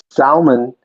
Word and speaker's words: salmon: ] well it's also if you want to be technical Salman is the right way to say it but I'm going to say salmon because I live in